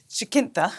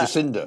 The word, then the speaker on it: Jacinda: has to be um jakintha i always say her name wrong uh jacinda jacinda yeah she was in